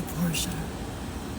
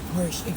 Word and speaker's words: Porsche: There's a Porsche. Porsche. I say Porsche. Xavier says Porsche. To me, the word Porsche would be spelled P O R T I A.